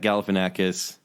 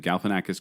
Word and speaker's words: Galifianakis: September 30th I mean the movie stars Zach Galifianakis yeah Zach galifianak I can't even say his name Galifianakis Kristen Wiig um it's it it looked a